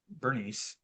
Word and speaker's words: Bernice: Just want to mention to you about King Agria and Bernice is how we're going to pronounce her name.